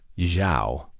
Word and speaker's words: Xiao: The lead investor from Shanghai, his last name is pronounced Xiao with a soft tone.